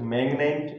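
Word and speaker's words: magnet: यहाँ पर लिखा है अपवाद, तो मैग्नेट, इसमें जो है ना जी एन क्या आ रहा है, दोनों साथ में आ रहा है मगर जी का यहाँ पर क्या किया जा रहा है, प्रोनाउंसिएशन किया जा रहा है।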